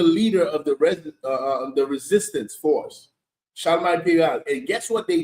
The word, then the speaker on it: Charlemagne: How you pronounce the name? Charlemagne. Charlemagne.